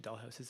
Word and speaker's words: Doll Haus: Online to um on Instagram at Dollhouse Events, but it's spelled the gayway. D O L L H A U S Events.